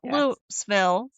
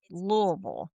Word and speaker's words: Louisville: But now if you come here, people will tell you you have to pronounce it correctly. This is not Lville. This is not it's it's Louisville.